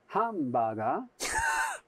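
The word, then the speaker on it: ハンバーガー: So the English word hamburger, they pronounce hambaga.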